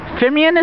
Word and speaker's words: Fimian: We're here at the Fimeian, is it pronounced?